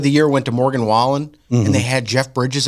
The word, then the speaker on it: Wallen: So Entertainer of the Year went to Morgan Wallen, and they had Jeff Bridges up there, and he mispronounced his name. He called him Morgan Whaling.